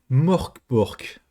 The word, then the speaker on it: Mörk Borg: Ce soir, interview d'un jeu dont on ne peut pas prononcer le nom correctement dès la première fois. Mork Bork.